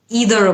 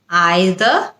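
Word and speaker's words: either: দুটোই উচ্চারণ কিন্তু সঠিক আমরা চাইলে আইদার বলতে পারি অথবা ইদারও বলতে পারি আইদার হচ্ছে ব্রিটিশ ইদার হচ্ছে আমেরিকান এরপরে আরেকটা শব্দ নিয়ে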